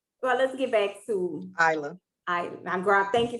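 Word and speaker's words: Ayla: said say it again it's a y l a isla okay conversations about me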